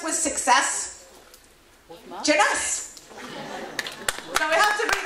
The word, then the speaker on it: Jeunesse: Jeunesse. So we have to read that again, right? And what rhymes with yes? Jeunesse.